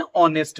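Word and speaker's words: honest: क्योंकि देखिए एच जो है ना यहां पे साइलेंट है। इसका प्रोनंसिएशन नहीं हो रहा है। और फर्स्ट साउंड जो क्रिएट हो रहा है किसके द्वारा? ओ से। ऑनेस्ट।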